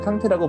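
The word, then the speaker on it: Kanté: 자신이 이제 프랑스식 발음으로는 꽁떼가 맞는데 꽁떼보다는 말리식 발음인 꽁떼를 좀 더 선호한다 라는 인터뷰를 하면서 이제 우리나라 해설자들이 캉테를 한동안 콩테라고 불렀던 적이 있는데, 콩테가 오른쪽 넣어줬습니다.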